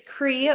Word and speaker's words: Crea: So my name is Cree. It looks like Crea, but I like to say it's Cree like the sea. The A is silent.